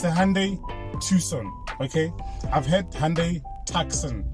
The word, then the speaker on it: Tucson: Hyundai Tucson but pronounced because Hyundai Tucson but pronounced Tucson t-u-s-o-n Tucson so let's stop calling it taxon Tucson but I don't blame you always depends